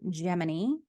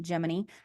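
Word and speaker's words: Gemini: program was it was Mercury then geminy that's how you pronounce it geminy and then it's Apollo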